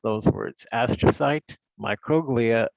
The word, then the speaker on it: microglia: And that's how you pronounce those words: astrocyte, microglia, ependymal cells, oligodendrocytes, and Schwann cells.